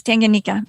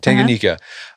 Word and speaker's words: Tanganyika: It's Lake, tell me on its pronunciation, Tanganyika? Yes, Tanganyika. Tanganyika.